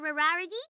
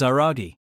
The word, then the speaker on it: Araragi: Rarity, you're asically closer to the right pronunciation compared to the last thing you called me. But, Hachikuji, don't sing my name like you're a cartoon dog. My name is Aragi.